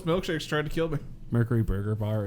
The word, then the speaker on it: Mercury: the difference here mercury there is an eye noise that we keep adding that you don't it's a humanoid yeah